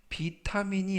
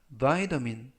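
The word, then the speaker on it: vitamin: 활용 문장 보시겠습니다 더민 이때 발음에 유의하실 것은 비타민이 아니라 바이민 민이라고 발음하시면 되겠고요 타민 c 비타민 C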